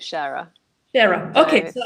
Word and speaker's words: Scheurer: It's a Swiss name. So in French it would be Scheurer. In German it would be Scheurer, and in English we pronounce it Scherer.